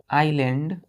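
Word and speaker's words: island: Is small low lying आइलैंड, इसको क्या पढ़ेंगे? आइलैंड। यहां एस साइलेंट हो जाता है, ILAND पढ़ते हैं, आइलैंड।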